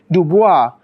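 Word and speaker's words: DuBois: Duo um as you can see the surname Duo is actually um originally a French surname so the correct way to pronounce it would be to say Dua so that would actually lead you to uh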